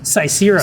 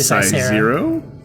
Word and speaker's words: Cysero: Cysero. 6 letters long. Cicero? I've heard so many people say Cicero.